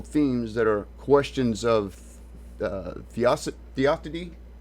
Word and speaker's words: theodicy: The central theological themes that are questions of theodicy, how do you pronounce that word?